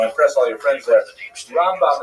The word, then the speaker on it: Rambam: Rambam is pronounced with the emphasis on the first syllable. Rambam and Ramban is pronounced with the emphasis on the second syllable.